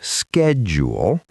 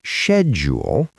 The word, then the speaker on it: schedule: Now, this one is interesting because it is pronounced differently depending on where you are. In American English, it is schedule. In British English, it is schedule.